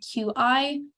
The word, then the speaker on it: qi: So our very first and probably most familiar vital substance is qi. In textbooks, you may also see it spelled QI. It's still pronounced qi, but just so you recognize what it looks like.